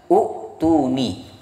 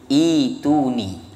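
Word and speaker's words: ائْتُونِي: Dibaca u'tuni. Tetapi hamzah sukunnya diganti dengan huruf ya menjadi ituni. Karena diganti ya, maka otomatis hamzah wasolnya diganti harokat kasroh, ituni.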